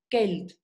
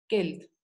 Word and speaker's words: Geld: Y la G en alemán siempre es dura, como si fuera escrita con G-U, Geld, Geld.